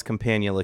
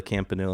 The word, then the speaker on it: Campanula: Campanula. Campanula. He he calls companula campanula. It doesn't matter how you say it as long as you spell it right.